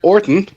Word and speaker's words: Orton: Orton, no letters, or no H, in case you think I'm mispronouncing it.